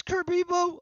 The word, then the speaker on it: Kerberos: it boom I'm on that oh it is Kirby boat I always think I'm saying it wrong when